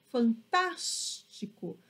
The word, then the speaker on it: fantástico: Porque eu falo fantástico. Percebam que o som ele fica mais forte no tas, né? Justamente por conta do acento agudo.